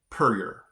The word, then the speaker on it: Puryear: This next one, I in my mind, I think I would have said Puryear. Puryear. Well, yeah, it's pronounced Puryear.